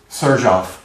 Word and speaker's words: Sherezade: How do you say the name again? Sherezade. Sherezade. That's her Venezuelan accent coming through.